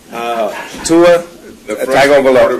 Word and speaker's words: Tua Tagovailoa: What I want to know is, how do you pronounce the name of that guy? Tua Tagovailoa.